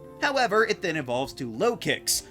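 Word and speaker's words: Lokix: However, it then evolves to Lowkicks, which sounds like locusts, but also low kick, and a cheap shot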